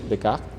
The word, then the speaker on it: Descartes: La idea en este sistema de coordenadas rectangular se llama cartesiano por un filósofo, se llama Descartes, lo pronunciamos en español, Descartes.